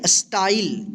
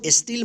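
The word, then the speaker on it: style: स्पाई इसको स्पाई पढ़ेंगे एस टी ए एल आई इसको पढ़ेंगे स्टाइल इसको स्टील मत padhiyega ठीक है स्टाइल एल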